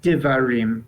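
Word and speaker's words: דְּבָרִים: how Joseph or Gideon either one kindly the pronunciation of this word on the screen yes right tevarim correct then and that means that means words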